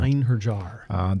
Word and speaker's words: Einherjar: the armor together that I want, which is unpronounceable. Einherjar, Ienarath. I think it's the Einherjar. Yes, thank you. Einherjar.